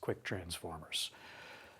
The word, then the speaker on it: ktransformers: Well, the overwhelming response to that video was use K transformers, which is pronounced quick transformers.